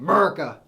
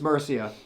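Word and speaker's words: Mercia: good I recommend it it looks like wolves of murca by the way it's spelled but it's Murcia so moving on we're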